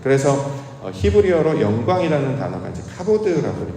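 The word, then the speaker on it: כבוד: 그래서 히브리어로 영광이라는 단어가 이제 카보드라고 발음을 하는데 그걸 우리말로 해석하면 무겁다라는 해석이 돼요.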